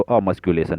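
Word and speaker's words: emasculation: ये जो वर्ड है इसको हम लोग क्या प्रोनाउंसिएशन करेंगे, तो अमस्क्यूलेशन, ये वाला वर्ड को अमस्क्यूलेशन बोलते हैं।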